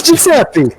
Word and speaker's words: Giuseppe: It's Giuseppe. It's just pronounced Giuseppe.